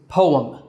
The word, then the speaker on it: poem: The correct pronunciation is poem. Poem. Now some people say poem, but that's not a standard pronunciation. The correct way to say it is poem.